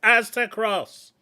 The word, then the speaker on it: Aztecross: this big video by axter cross I I never know how to pronounce this guy's name but essentially it's AOSS Aztec azte aztecross it's not difficult it's as to cross he got an email